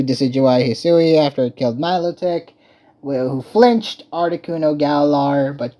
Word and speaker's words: Milotic: So, perhaps Melodic. Now you got me saying the wrong pronunciation. It's Milotic.